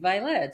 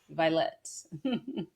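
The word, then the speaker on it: Vylette: Violet. I never heard that name before. It kind of sounds like Violet, but with the X. Violet. And the way that it's spelled is is with a Y.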